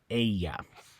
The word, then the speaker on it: ella: Ella okay in Spanish it's incorrect to say Ella you say Aya Aya okay uh so